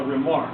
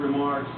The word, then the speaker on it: remarque: the plate, and it's they call it a remark. It's just a little image. It's R-E-M-A-R-Q-U-E is the spelling.